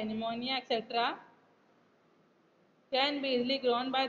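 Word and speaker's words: pneumonia: double यह chapter caucus निमोनिया पीड़ित silent रहेगा P N-you M ओ एन आई ऐ निमोनिया 17 110 बिजली ग्रोन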